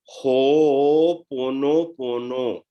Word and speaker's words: Ho'oponopono: Now, this technique, a lot of people use it, and it's very important to know how to actually pronounce it. A lot of people say Ho'oponopono. It's Ho'oponopono.